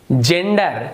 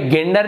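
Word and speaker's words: gender: रहा है जेंडर, तो जी के बाद यदि ई है तो ज उच्चारण होता है।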